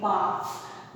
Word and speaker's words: bark: The first word is BARK, बार्क। बार्क means होता है कुत्ते का भौंकना। तो फिर दूसरा बार्क, पेड़ की जो छाल होती है ना, वही होता है बार्क। BARK, इसमें R साइलेंट है, ध्यान रखिएगा।